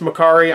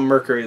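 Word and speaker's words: Mercari: also got a makari pickup i know it's pronounced makari i'm going to call it mercury though because i know that upset somebody and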